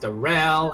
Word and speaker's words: Daryl: It's like spelled Daryl but pronounced Darrell, and it's like the